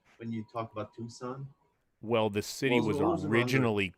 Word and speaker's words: Tucson: That reminds me of old Tucson.